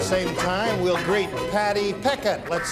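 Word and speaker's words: Pechet: Is that Patty Pichet or Peckett? Patty Peckett is her name.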